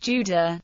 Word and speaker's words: Jude: The German word Jude is pronounced Judah, the corresponding adjective Jüdisch, Jyd, and is cognate with the Yiddish word for Jew, Yid.